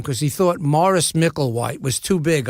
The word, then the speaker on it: Maurice: I'm not Jewish Morris I'm English Morris Maurice ma you are I see E but we pronounce it Morris said also you're not